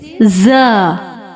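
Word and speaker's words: ز: Our first letter is za. Za, za. Please read after me. Za, za, za. Remember, za has whistle sound.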